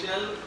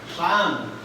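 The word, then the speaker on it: shan't: সেন্টেন্সে থাকতো যে আই শ্যাল গো to home আমি বাড়ি যাব তো তোমরা কি লিখতা হ্যাঁ কি লিখতা আমি এটা কইছি এখানে কখনো শ্যাল উচ্চারণ হবে না এখানে হবে শান্ত এখানে উচ্চারণ হবে কি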